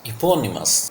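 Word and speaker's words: eponymous: इपोनिमस, सी the pronunciation, the first sound is ई। ये ए sound नहीं है, this is E sound here. इपोनिमस, पा sound पे स्टस है, ये स्मॉल साउंड है ई की, इपोनिमस।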